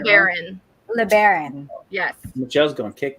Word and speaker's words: LeBaron: is it LeBron? Do I keep it? It's saying it wrong? LeBaron.